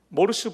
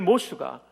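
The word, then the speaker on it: Morse: 세뮤얼 모르스 부호를 만든, 우리말로는 모르스라고 발음하는 세뮤얼 모스가 11년간의 연구 끝에 너무나 그는 이 연구에 몰두하다가 병약한 아내가 숨지는 데 도와주지 못했어요.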